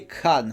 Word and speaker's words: Khan: il m'avait expliqué que quand il y a un KH comme ça c'est crâ cr en tout cas prononcé à Lindy.